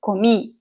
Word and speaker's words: comi: Then, now the stress is at the end. Why? Because the word ends with I. It's one of these little words here. So usually, you see, words that end with I, they are, if there is no accent in the word, the I is stressed.